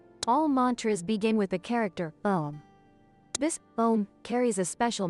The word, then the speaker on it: Om: It is not pronounced with an open mouth like Ah, but you must pronounce it with a nasal sound, creating a vibration in the nasal cavity and head.